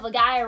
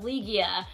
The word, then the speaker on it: Legaia: I said Legend of Legaia wrong for the longest time. I said Legend of Legia. And someone told me that that's not how you say it.